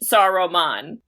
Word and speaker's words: Saruman: Saruman. There's another syllable.